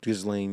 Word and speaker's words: Ghislaine: Also, how do you pronounce the name? I know Maxwell, but Gazelle Maxwell, something like that. Ghislaine? Ghislaine, yeah.